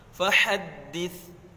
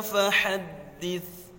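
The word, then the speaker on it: فحدث: Fahaddits, taknya jangan dibaca fahaddits, jangan dibaca sin, harus fahaddits sesuai dengan makhraj taknya.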